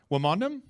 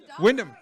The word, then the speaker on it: Wyndham: Wamondam? Windeman? Windham. Well done. I'm sorry, I was going phonetically by how it's spelled on the answer sheet.